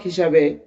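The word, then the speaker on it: ح: সময় চার আলিফ টান হবে। জিম জিম জিম জি জি জিম জিম সম্মানিত দর্শক এখন আমরা হা উচ্চারণ করব। হাটা গলা চেপে আমরা উচ্চারণ করব হলকের মধ্যকান থেকে।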